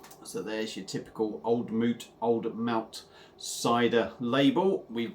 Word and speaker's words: Mout: are looking at is old moot cider I believe that is a what you how you pronounce it not old Mountainside or I believe it's old moot but if I'm wrong let me know uh established in Nelson New